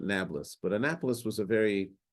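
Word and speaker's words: Nablus: called it Anapolis and the Arabs cannot pronounce a p so they called it nablas but Anapolis was a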